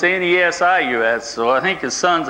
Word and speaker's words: Nesius: this is john joseph nesius and and in jasper county it's pronounced and easy but it was spelled when